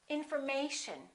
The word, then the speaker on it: information: This is the most stressed syllable right here, the A. Information. So we don't say infor, and we don't say mation. We don't say information. We say information.